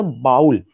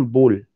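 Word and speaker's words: bowl: तो उस पे ये कहा जाता था कि इसको हम लोगों को पढ़ा जाता था बाउल। जबकि इसका जो जो जो जो प्रोनाउंसिएशन है, दैट इज वन बोल, दैट इज बोल.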